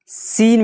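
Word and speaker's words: scene: जाएगा हो जाएगा सेंट इसी तरह सीन में देखिए ए के बाद सी है और सी के बाद ई है सी क्या हो जाएगा य पर साइलेंट हो जाएगा सीजर एस के बाद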